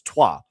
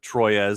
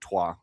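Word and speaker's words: Troyes: who's also in France, Tua, which Troy, it's spelled, but Tua is how they say it because France, I don't know, whatever.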